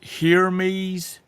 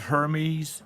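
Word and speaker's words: Hermès: tomorrow here it goes 24K Felix is it pronounced heres not Hermes Hermes her heres heres uh because I'm looking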